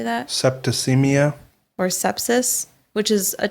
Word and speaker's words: septicemia: Septicemia.